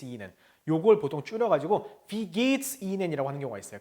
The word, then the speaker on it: geht: 자, wie, 이하고 에 길게 발음하면 wie geht, 그쵸? 에하고 하 있으니까 에 길게 되니까 get, s, E는 여기도 어떻게 해야 돼요? 이, 하 길게 들어가죠? 그러니까 E는, wie geht es Ihnen? 요걸 보통 줄여가지고 wie geht's Ihnen?